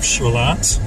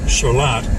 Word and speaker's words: Charlotte: and the community of charlot of course everybody in Rochester knows it's pronounced charlot even though it's pronounced even though it's spelled like the girl's name Charlotte the old library on